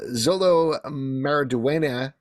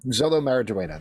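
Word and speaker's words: Xolo Maridueña: the new heads of the DCU however uh Zolo maraduena maraduena Zolo maraduena that's how you pronounce his name uh he has said that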